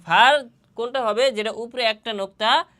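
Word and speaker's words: فاء: ফার মাখরাজ কোথায়? ফার মাখরাজ হচ্ছে সামনের উপরের দুই দাঁতের আগা এবং নিচের ঠোঁটের পেট।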